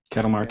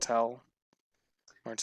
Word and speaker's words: Ketel Marte: Kettle Marte. And Yep. Ketel Marte. You say it like that again, and I swear to God. That's how everyone says it. Literally everyone. Even the It's announcers for... No, even the announcers for Kettle Arizona Marte.